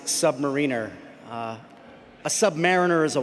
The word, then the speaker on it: submariner: Huya Navy and it is it is it's this is controversial but it is pronounced submariner.